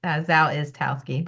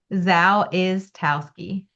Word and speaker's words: Zawistowski: Yeah, the S is in the middle, so you already missed that. It's Zawistowski, but yeah, that's close Say enough. it, your last name? Zawistowski.